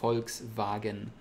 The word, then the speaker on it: Volkswagen: the English one is in Volkswagen like the car you know Volkswagen or in proper German Volkswagen and it sounds like an F like folks wagon but in many words